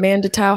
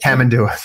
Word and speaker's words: tamandua: But Mandatau, how do you say it? Tamandua. Tamandua, yeah.